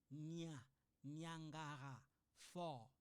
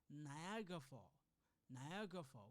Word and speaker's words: Niagara Falls: speak French or Portuguese, most of the time French student or newcomer, they pronounce this Niagara Falls. No, we don't say Niagara Falls. No, we say Niagara Falls. We don't say Nya, because I know in French it sounds like Niagara, but in English we don't say Niagara Falls.